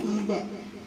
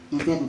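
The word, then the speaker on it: إذًا: Fala yahtadu idzan abada ini bacanya idzan lah. Siapa yang bertakun ada kawannya idzan bacanya. Idzan abada jangan ida.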